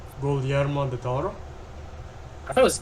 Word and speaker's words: Guillermo del Toro: Is that how you pronounce his name? Guillermo del Toro? I thought it was Guillermo.